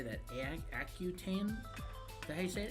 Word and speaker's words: Accutane: Accutane.